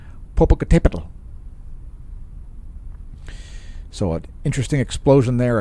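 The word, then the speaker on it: Popocatépetl: everybody say it aloud you can say it poal it's got the accent mark right there on the accented syllable poal so an interesting explosion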